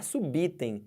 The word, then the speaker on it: subitem: que se escreve perceberam Então você vai escrever dessa escrever assim separar sílaba assim e falar subor e falar subitem e falar suba aérea